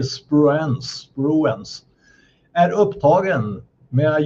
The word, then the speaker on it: Spruance: Medan jagaren USS Spruens, jag vet inte hur det uttalas, s ru a n e. SPR, jag säger spruens, spruens är upptagen med att jaga små fraktfartyg vid kusten.